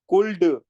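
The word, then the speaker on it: could: तौर पर लिखा जाए सी ओ यू एल डी कुड कुड नहीं पढ़ा जाएगा बल्कि यहां पर एल की आवाज साइलेंट हो गई है कुड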